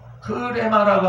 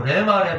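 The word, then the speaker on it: ῥῆμα: 공부를 안 해가지고 자꾸 레마 그랬잖아. 레마는 콩글리시요. 레마가 아닙니다. 흐레마. 앞에 발음되는 순표가 있는데 이것을 공부 안 해서 무시해가지고 레마 하는데 순표까지 발음해야 흐레마가 원어 온전히 표현하는 겁니다.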